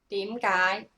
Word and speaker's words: 點解: Okay, you notice it's two high rising second tone. 點解? So when you pronounce it, you can do it like this. 點, your head move. 解. And then the AAR is a long sound.